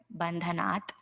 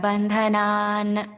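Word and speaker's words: बन्धनात्: if we're chanting without a pause after the word bandhanat, then what happens is a small sandhi rule in Sanskrit where the ta gets converted to a na because it's followed by the next word, mrityor.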